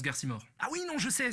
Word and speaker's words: Garcimore: Ça se prononce Garcimore.